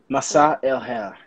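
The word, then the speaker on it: مساء الخير: Masa el hair.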